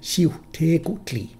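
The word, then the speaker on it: Xiuhtecuhtli: In the second, the W and Q end the first and second syllables respectively, and the letters are reversed to U-H-U-C.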